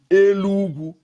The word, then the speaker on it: Enugu: They call Enugu, we call Enugu, Elugu. They call Enugu, we call Elugu. It's different tongue, the way we pronounce it.